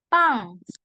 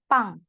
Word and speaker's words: 빵: Pang. Karena yang bulat kalau di bawah dibacanya eng ya. Pang.